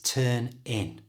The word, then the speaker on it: turn in: do this is by moving the N from the end of turn to the I at the front of in so turn in becomes